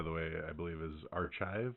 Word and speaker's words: arXiv: Their name, by the way, I believe is Archive. It's a pun with the Greek letter chi. So it's like archive, but chi.